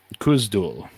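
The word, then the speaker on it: Khuzdul: I can't pronounce it yeah how do you pronounce it kdul K yeah yeah I I think I think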